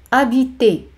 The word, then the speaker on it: habiter: El verbo vivir, que significa residir, es habiter. Habiter. H es muda, no se pronuncia.